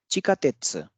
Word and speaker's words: chikatetsu: Chikatetsu, the metro rail. Chikatetsu, it's not chikatetsu, it's chikatetsu.